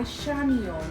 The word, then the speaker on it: Chamion: contact with with me which is food by shamon my first name is spelled c h a m i o n